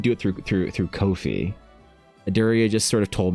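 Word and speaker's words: Ko-fi: I'm glad they say it is pronounced Kofi. Rhymes with no fee.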